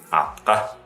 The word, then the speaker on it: атка: И вторая изюминка этого слова в том, что русская буква «К», Адам Альбертович произносит эту букву как русскую букву «К», «атка». На самом деле в тувинском языке рядом с гласными заднего ряда произносится соответственно задняя буква «К», «К», «К». Не «к» передняя, а задняя «к», «к».